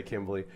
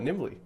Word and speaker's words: Knimble: anyway uh Nimble I there's a K in your name I'm so sorry I know I'm going to say Kimble but Nimble it's okay the K is silent Like a Knife um Like a Knife